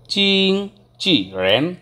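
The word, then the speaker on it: 经纪人: দেন broker, broker, ব্রোকারটাকে চাইনিজে বলে চিং চি rain, চিং চি rain অর্থাৎ চিং টানতে হবে, দেন চি ফোরটনে, চিং চি, then second টোনে rain, that's mean person, Ching C rain broker, Ching C rain broker.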